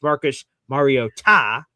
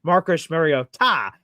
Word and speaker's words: Marcus Mariota: that apparently were in the conversation, which was Marcus Mariota, apparently how you pronounce it, which I guess, thanks for letting